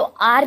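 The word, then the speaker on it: hour: अ या एन आर, तो आर जो है इसमें एच साइलेंट है और एच ओ का साउंड, एच साइलेंट है तो ओ का साउंड आ रहा है इसीलिए इसके साथ क्या लगाएंगे, एन।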